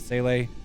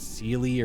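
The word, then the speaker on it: Seele: And I will forever pronounce it Sele and not Sealy or whatever the fuck they pronounce it for in this stupid what's it face.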